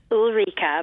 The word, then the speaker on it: Ulrike: a very unusual situation and I now have Ulrika is that how I pronounce our Rika Rika perfect thank you and your last name is